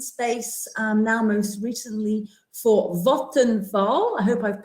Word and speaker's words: Vattenfall: Clearly a lot of experience, many years in the change and project management space, now most recently for Vattenfall. I hope I've pronounced that correctly. Vattenfall, yes, you did great.